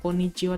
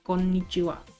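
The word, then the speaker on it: こんにちは: juga donah ponna dan Konnichiwa bukan Konnichiwa tapi Konnichiwa ada penekanan huruf n di situ Hei Eto'o pembahasannya mungkin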